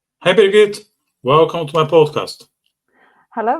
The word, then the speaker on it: Birgit: So talking about words, I'm not sure if I pronounce your name correctly. Is it Birgit or Birgit? Birgit.